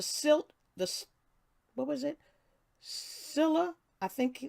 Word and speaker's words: Scylla: thus what was it Scylla I think I think it's pronounced Scylla of environmental determinism and the car bidis carbonates of blaming the victims perspective okay so that's dr.